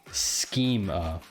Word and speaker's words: schema: So Jeff says, I think it's pronounced a hard C, schema. So there's a whole backstory to why I say schema, but I will spare you the backstory today.